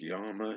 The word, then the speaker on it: llama: in here making sense it's pronounced Yama in Spanish actually like y better than llama I'm start calling them yamas because llama sounds F maybe I'm